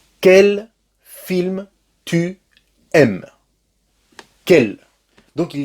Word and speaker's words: quelle: et qu'elle féminin pluriel tu as remarqué que la prononciation est la même quelle quelle quelle qu'elles d'accord du point de